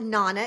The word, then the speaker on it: Nana: Yes, and actually we call it Nana because it rhymes with Rhea Um, Lana.